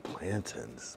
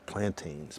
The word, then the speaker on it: plantain: I just don't like plantins. Plantain. Plantins is how you say it when you're Jamaica.